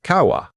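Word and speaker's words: 川: It is a stylized version of the Japanese character for river pronounced kawa.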